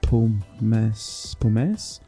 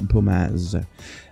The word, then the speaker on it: pomace: Pressing R, then we're going to take a look, and hey, grass, manure, wood chips, chaff, straw, and I think it's pronounced pomace? Sound French, pomace.